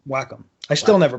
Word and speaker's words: Wacom: that produces these projects is a company called Wacom Wacom Wacom I still never pronounce it right I've seen the name and